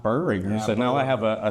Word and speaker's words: Boehringer: I've heard Bearinger and Bow Ringer, but not Burringer. So, now I have a third uh pronunciation, and it's that's the right one, it sounds like.